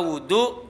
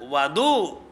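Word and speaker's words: وضوء: itu wudu dibacanya apa wudu Bil wawi yaitu dengan domahnya W wudu wudu nah gitu ada Wadu kalau Wadu nanti nama lain dari air alwudu bidommil wawi artinya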